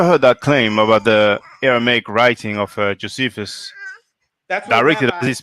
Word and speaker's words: Aramaic: copies that were in aramic am I saying it right Aramaic Aramaic yes josea wrote in that